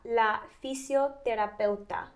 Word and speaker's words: fisioterapeuta: You're kind of pronouncing it like it's a th, so terapeuta. Terapeuta? Yeah, just like that.